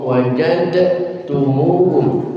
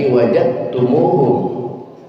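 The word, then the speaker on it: وجدتموهم: Bacaan pertama saya bacakan haitsu wajadumuhum. Wajadumuhum. Dalnya dibaca dengan jelas. Wajadumuhum. Yang kedua dalnya saya hilangkan. Haitsu wajadumuhum. Wajadumuhum. Kalau boleh tahu ibu-ibu dan bapak-bapak bacanya model pertama apa model yang kedua? Kedua. Model yang kedua. Berarti wajtumuhum. Betul. Betul.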